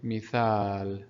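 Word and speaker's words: مثال: Again, we have here alif after tha, which will elongate the sound of tha. It will be mithal, mithal. We talked about mad in the letter in the video where we explained the letter alif. Okay, so alif can come as mad here, so it will elongate the sound of tha, mithal.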